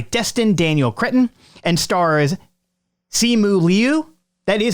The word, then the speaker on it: Simu: and co-written by Destin Daniel Cretton and stars Simu Liu. That is how you say his name. Simu Liu.